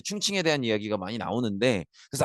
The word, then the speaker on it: 충칭: 요게 한자 발음이고 요게 중국식 발음입니다. 중국 발음이고. 근데 옛날에는 중경이라는 표현도 많이 썼는데 지금은 충칭이라는 중국식 발음 표현을 좀 더 많이 쓰는 것 같아요. 그래서 이때는 충칭 임시정부 이렇게 보시면 될